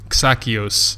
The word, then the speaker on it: Xakios: She also told me that it's pronounced like that, so if that's wrong, that is also her fault. Xakios. Apparently it's Greek, she says.